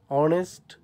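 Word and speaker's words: honest: হয় তখন এ বসে এইচের উচ্চারণ না হলে অনুচ্চারিত থাকলে যেমন অনার অনেস্ট এইরকম হলে এন বসবে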